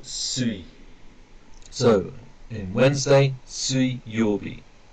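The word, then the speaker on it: 水: Now that's either mizu, or sui.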